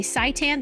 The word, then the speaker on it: seitan: We were just talking about today seitan.